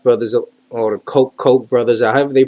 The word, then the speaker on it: Koch: But anyway, the Koch brothers or the Koch brothers, however they pronounce their name. I just call them Koch because that we had a mayor called Edward Koch, and that's how the spelling is the same.